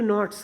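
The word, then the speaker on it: knots: और बांधता है, इनटू नॉट्स, गठान में, नॉट यानी होता है गठान, इसमें के साइलेंट है, सिर्फ NOTS का प्रोनाउंसिएशन हो रहा है, तो उस पर एक गठान बांधता है गमछे में।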